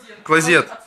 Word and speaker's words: клозет: Не, на Е ударение. Клозет? Не знаю, я не знаю, как правильно. Клазеты. Клазет, клазет. Вот так вот. Тут, видите, везде клазеты. Клозет. От слова кладет. Клозет будет правильно.